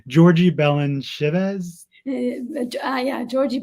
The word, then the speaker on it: Balanchivadze: So George Balanchine was born, and please correct my pronunciation, Georgi Balanchevez? Yeah, Georgi Balanchivadze.